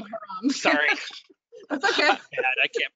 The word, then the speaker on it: haram: Close, it's haram, not harem, haram.